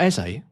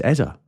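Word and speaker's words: Eze: It's not Ez. No, it's Eza, is it?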